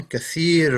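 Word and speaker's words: كثير: year for that one kathir rhymes kathy rhymes with kabir as well kathir and kabir the rhymes so they've got a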